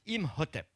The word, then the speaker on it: Imhotep: hôtel avec un pain dessus ce qui se prononce imhotep c'est le nom de ceux de ce brave